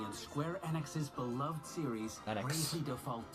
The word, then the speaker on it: Enix: latest but entry in Square Enix's beloved series, Enix. Bravely Default 2. I never pronounce it. I always released pronounce it this year. Enix. It's Enix. Because I always say Squeenix.